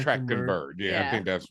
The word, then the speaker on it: Trachtenberg: Like, we're gonna get into it, but Predator Badlands, directed by Dan Trachtenberg. Is that am I pronouncing that right? Trachtenberg. Trachtenberg. Trachtenberg. I think it's Trachtenberg.